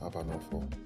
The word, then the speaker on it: Abanofor: Abanofor.